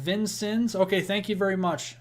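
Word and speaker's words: Vincennes: and the hail cores it's pronounced vincon okay thank you very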